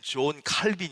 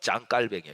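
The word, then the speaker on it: Jean Calvin: 장 깔뱅이라는 분이 있어요 우리는 존 칼빈 이렇게 많이 알고 계시죠 근데 원래이 사람이 프랑스 사람이에요 그니까 불어 발음으로 하면 짱 칼뱅이 이분이 드디어 제네바는 도시에서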